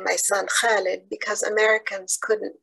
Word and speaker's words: Khalid: not name my son Khalid because Americans couldn't pronounce it. Now I wonder about such wisdom. Even my 8-year-old could constrict her throat muscles the right way to say Khalid, immortal like an ancient